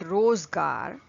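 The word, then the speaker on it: रोज़गार: So whenever a letter has a dot at the bottom, it is pronounced as z, z. Okay, whether it is any other word, you just have to add a little this sh sound. Okay, so rozgar, z, it's highlighted, z.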